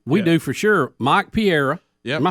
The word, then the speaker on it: Pereira: Pereira. Think about Pereira. Think about pa, and then the way we like steak, rare.